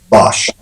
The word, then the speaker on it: Bosch: We need a correct pronunciation. Bosch or Bosch? Bosch.